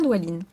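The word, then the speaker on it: Dwalin: s'inclinant profondément, attendez, il faut pas que je prononce mal, hein. Non, c'est Douine. Oui, c'est bien Doualine.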